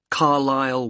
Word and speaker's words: Carlisle: and your address 45 carlisle way could you spell carlisle for me sorry it's c a r l i s l e you don't pronounce the s carlisle way and that's